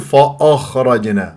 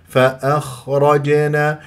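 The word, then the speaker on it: فأخرجنا: والراء مفخمه ل مفتوح فممكن تقول فاخرجنا هذا غلط فا بعدين الخاء ساكنه البعض يسوي فيها شخير شخير شخير فاخرجنا هذا مبالغه لازم باللطف زين بلا تعسف باللطف في النطق بلا تعسف فاخرجنا والبعض يكور فاخرجنا ايضا هذا خطا انت تنظر الى المراه اذا كنت تشخر خطا اذا كنت تكور الشفاه خطا هذه الساكنه مفخمه مرتبه رابعه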